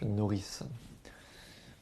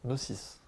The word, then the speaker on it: Nocis: Comment vas-tu, Nourrice? Non, Nocis. Nocis, j'ai mal prononcé ton pseudo, je suis désolé.